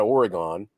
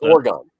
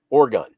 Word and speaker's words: Oregon: I don't know if Cameron's in here, but it's not Oregon or Oregon. Oh yeah, yeah. It's Oregon. Oregon.